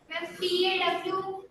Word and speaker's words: paw: And what does pa means? It does not. Acha, bache, would you like to spell the word? PAW. Yeah, you got that right, but that is not pa. That is paw.